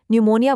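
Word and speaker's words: pneumonia: निमोनिया बोलते वक्त हमने पी जैसी मुश्किल साउंड को पूरी तरह से साइलेंट ही कर दिया।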